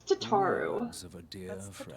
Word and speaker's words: Tataru: the first syllable like you repeat the first syllable of the name yeah so like her name is kind of like tarte tatu but still like that's tataru i think i do